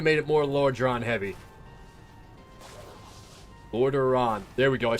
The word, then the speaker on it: Lordaeron: The belt, the Forsaken Heritage armor, I wish they would have made it more Lordran specific. Yeah. I wish they would have made it more Lordran heavy. Lordaeron.